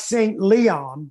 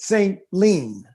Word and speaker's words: St. Leon: It looks like St. Leon, but if you're from there, they pronounce it St. Lean.